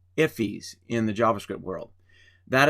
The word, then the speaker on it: IIFE: more detail immediately invoke function expressions are called iffies in the JavaScript world that is the way you pronounce that iife that you see at the end there on that title line iffy and iffy is simply defining a function and